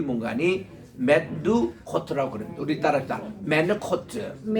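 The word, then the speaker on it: מְנֻחוֹת: 메누코트. 코가 그 H의 거친 발음에 메누코트라는 것은요 아주 잔잔하다라는 뜻이에요.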